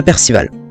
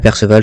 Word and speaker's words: Perceval: Donc on fait la rencontre d'Isolde par l'intermédiaire de Percival. Donc Percival, Perceval, ça dépend comment vous le prononcez.